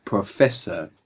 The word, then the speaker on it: professor: inglés es professor professor y se escribe con dos s professor no no porque haya más s si se escribiera con una s capaz suena Z Ah entendí que con dos s será la z y con una no alés con una s entre vocales suena Z si hay